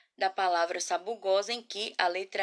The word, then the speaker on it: Sabugosa: sílaba falar palavra novamente Sabugosa o s ele é usado entre vogais quando é necessário que essa letra é essa ela tem o som de z então ela vai ser